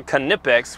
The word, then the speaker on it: Knipex: guys okay so this is a canipex because that's how you pronunciate it connects Mr Subaru called me out on that one canipex but guys this